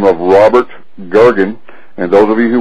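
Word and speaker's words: Goergen: a legendary CEO by the name of Robert gurgen and those of you who want to can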